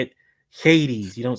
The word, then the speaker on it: Hades: because you say it Hades you don't say you don't pronounce the h is Hades like that gives you